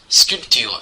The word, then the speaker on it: sculpture: 泽、光彩。sculpture 请注意哦，这个 b 是不发音的。Un autre exemple, la cathédrale de Chartres。